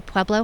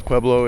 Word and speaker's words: Pueblo: So a lot of people pronounce Pueblo incorrectly. They say Pueblo.